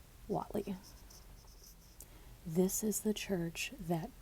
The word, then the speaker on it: Whatley: wal Walt Walt Le the spelling of it is w h a t l y I will let you figure out the best way to pronounce it in the YouTube video which I went to they pronounce his name Watley this is the church